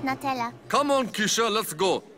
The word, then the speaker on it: Natella: It's actually pronounced Natella.